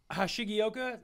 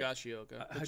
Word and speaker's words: Higashioka: Hashigioka, I'm saying it right? Higashioka, sure.